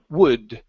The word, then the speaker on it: would: now with word here the L is silent we do not say w but it's uh W wood wood okay very nice so